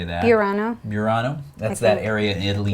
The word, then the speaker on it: Burano: honorable mention is douglas douglas Croft images colorful barano I think is how you say that pirano Burano that's that area in Italy near Venice yeah